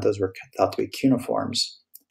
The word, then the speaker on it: cuneiform: cuboid then we have three cuneiform it is pronounced based on what i can find cuneiform cuneiform uniform is actually a kind of actually term